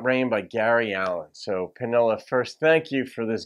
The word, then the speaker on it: Manila: kind of like spelled like Manila but it's pronounced penilla made a gift to the channel for me to do this song song's about Rain by Gary Allen so Panela first thank you for this gift and here's